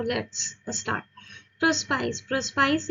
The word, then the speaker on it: Prospice: प्रोस्पाइस एक Latin word है जिसका प्रोनाउंसिएशन है प्रोस्पीके।